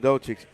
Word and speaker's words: Dulcich: Yeah, Trey McBride, Greg, how do you pronounce Dulcich. that? Dulcich.